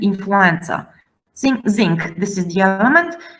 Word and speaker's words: influenza: Now, these two words are of Arabic origin. That's why we have to pronounce as ц. Zincum and influenza.